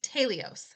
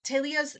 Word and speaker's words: telios: It's a Greek word and I will probably butcher it. I tried to find the pronunciation to make sure I didn't say it too American, but I'll probably butcher it. It's tios. So, it's t e l i o s.